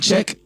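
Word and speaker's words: Czech: i gotta play in check c z e c k i think that's how you pronounce it but i appreciate check that's how you say it i appreciate y'all so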